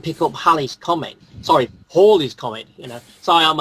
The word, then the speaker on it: Halley: But otherwise, Halley, it's spelled Halley but pronounced Hawley according to the diarist.